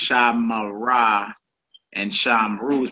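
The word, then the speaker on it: שָׁמְרָה: It's pronounced shamara, shamara, and it's pronounced shamaru, shamaru. Though the shiva occurs in the middle of a word, it is vocal.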